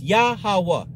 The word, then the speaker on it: Yahawah: The Father's name is spelled with Yad Ha Wa Ha Wa Ha. That's Yahawah.